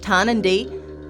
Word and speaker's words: Tarnanthi: The word Tarnanthi, pronounced Tarnanthi, comes from the language of the Kaurna people, the traditional owners of the Adelaide Plains.